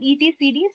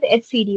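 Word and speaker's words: etcd: Then we have somebody called HCD. Okay. Somebody called ETC, somebody called HCD also. It's based on the person's pronunciation but it is the same. Okay. Uh so usually it called as HCD only.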